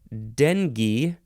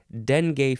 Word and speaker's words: dengue: but not not completely the next word is Dengue or Dengue I've always heard it pronounced Dengue but I guess Dengue is uh